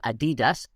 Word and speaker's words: Adidas: In fact, that's how it is pronounced in the film, Adidas.